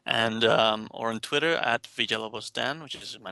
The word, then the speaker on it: Villalobos: Did you want to spell that surname? Sure, it's Villalobos. Excellent. Cool. Yeah, because it took me a while to learn how to say it correctly. Yeah. Villalobos.